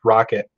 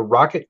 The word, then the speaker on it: Roccat: uh roke uh roccat i know if it's pronounced rock at like rocket or rocat it's roccat so i guess it's it's rocket um but they have